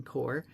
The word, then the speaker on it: corps: it by comparing his experience in the ring core which refers to the military corpse but the p is silent so he says when he had or